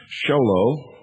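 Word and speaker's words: Show Low: Make checks or money orders out to Annie, A-N-N-I-E, and send them to the Intelligence Service, Post Office Box 1420, Sholo, that's spelled S-H-O-W-L-O-W, Arizona, 85901.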